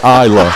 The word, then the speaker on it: Isla: She spelled it out. EYE-LA, Isla.